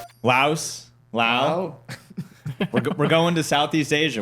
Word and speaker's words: Laos: I think in English you can say Laos, but I think over there they say Lao. There's just no S. So you don't say the S.